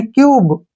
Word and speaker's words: cube: यू के बाद एक कॉन्सोनेंट को छोड़कर अगर ई आता है तो हम यू का उच्चारण यू करते हैं, ठीक है ना। इसको पढ़ेंगे हम CUBE, यानी क्यूब।